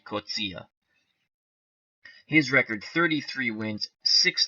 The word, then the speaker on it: Coetzee: and again when Harry cozia came to America he changed his name to Jerry to make it more easy to pronounce but his true pronounced pronunciation of the name is Harry kutzia his record 33 wins